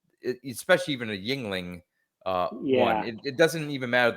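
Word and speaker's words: Yuengling: How did you pronounce that? Yunglings? Yuglings. No. It's Yingling.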